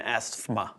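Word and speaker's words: asthma: This is when a group of consonants is bunched together but only contain one syllable like the stth in asma.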